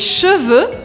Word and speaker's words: cheveux: E aqui mais uma dica de pronúncia, porque é diferente les cheveux, os cabelos, de les chevaux, os cavalos. Les cheveux, les chevaux. Les cheveux, chevaux. Cheveux, chevaux.